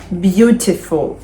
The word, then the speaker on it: beautiful: поїхали далі три склади три склади зазвичай на перший перший склад Beautiful betiful в нас уже